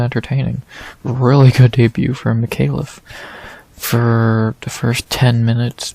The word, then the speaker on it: Micallef: we head up 15 pounds to see Jonathan Micallef, I think that's how you say it, Micallef, versus Kevin Jousset.